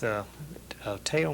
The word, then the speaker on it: Teo: Didn't you perform with Teo Macero? Is that how you pronounce his name?